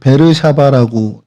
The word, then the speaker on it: 브엘세바: 그래서 이곳을 좀 확대해서 보면 예루살렘에서부터 여기 바르샤바 지금 베르샤바라고 요즘 발음을 그렇게 돼 있더라고요.